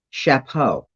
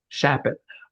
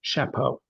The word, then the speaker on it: Shapot: fernandez or whatever how often are you called chapeau my last name is unusual it's a shortened russian name and nobody gets it right the first time but it's simple shap it i actually have a first cousin who's a